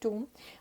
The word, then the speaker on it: tomb: of course that this is tomb but even if it is funny it is the correct pronunciation so t-o-m-b means doom